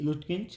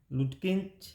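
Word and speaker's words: Lutkins: He felt his mistakes when लुटकिंच या लटकिंच, आप इसे लुटकिंच कह सकते हैं, लटकिंच कह सकते हैं, ये नाउन है और नाउन को प्रोनाउंस करने में कोई मिस्टेक आपको नहीं करनी है, आप इसे चाहे लटकिंच कहें चाहे लुटकिंच कहें।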